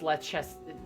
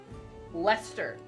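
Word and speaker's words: Leicester: say that much that's very much how you pronounce leest leester leester leest if it's a good effort so I'll let you out I look Britain can't make up its mind how things are pronounced so Lester then why is a c in there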